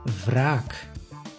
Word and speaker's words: wraak: In this case, you pronounce the W as V, V, like in wraak.